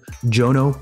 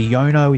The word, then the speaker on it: Jono: very australian name so a lot of people in the us get it wrong you know they say jono they say yono if it's a spanish person i get yono a lot and then the surname